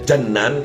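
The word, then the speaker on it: جنان: Jadi kalau dibacanya jannan itu jamak taksir daripada jannah. Kalau dibaca jinan itu artinya hati. Jadi bahasa Arab itu cara membaca beda saja sedikit. Jannan sama jinan sudah beda lain.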